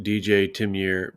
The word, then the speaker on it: DJ Timyear: And it's pronounced DJ Timyear because my first name is actually Tim, which is why I'm so sick of all the Tim Dog talk.